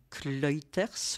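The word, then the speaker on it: Clijsters: battu la Belge Kim kuters je dirais que ça se prononce comme ça parce que ça doit être flamand elle elle gagnait mais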